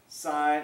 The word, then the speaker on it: sine: do we write this sign of a that is not pronounced sin of a oh what's the sin of a no it's not the synovate it is the sign this is a long